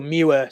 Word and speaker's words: Muir: sea it's Muir Iran so Muer spell m-u-i-r and this is exactly